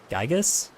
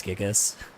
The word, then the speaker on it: Gigas: Gigas. Oh, is that how you pronounce it? I thought it was always Gigas.